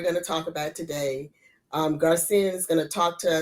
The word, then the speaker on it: Gracienne: Today, we have the opportunity to meet a dynamic woman, and her name is Gracienne John Pierre.